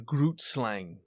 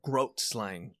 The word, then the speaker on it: Grootslang: And I stumbled upon a creature called the Grootslang, or Grootslang. That's how you pronounce it.